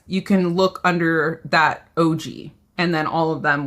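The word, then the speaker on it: Ougi: O U Gi, pronounced OG. Okay. Thank you, Kesha. Kesha's here to fact check me. I appreciate that. Yeah, OG.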